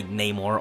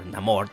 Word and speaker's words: Namor: to have vibranium somehow, led by Namor or Namor, depending on how you want to pronounce it.